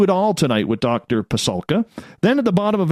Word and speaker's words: Pasulka: Diana Walsh Pasulka. You think I should be able to pronounce her last name because I'm Ukrainian myself.